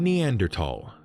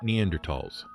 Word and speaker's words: Neanderthal: The TH in THAL is pronounced as a hard T.